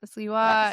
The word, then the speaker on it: Sliwa: That's great because is it Sliwa? Is that how you say his name? I don't know. Sliwa.